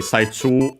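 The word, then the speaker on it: 最中: First, we would have technically Saichu on its own. Chinese compound accent on the first mora, one of those.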